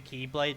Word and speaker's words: Keyblade: I know it's just pronounced the keyblade, but that's how it always comes up in the subs as Xlade.